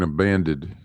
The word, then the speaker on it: abandoned: It's all abandoned, with overpasses and underpasses all in it. So you mean abandoned?